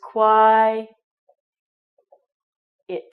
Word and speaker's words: quiet: little e here so if you have the first part of the word it's with our KW sound then we have an eye you can say it like an eye and then we have et at the end so it's qui it this word quiet means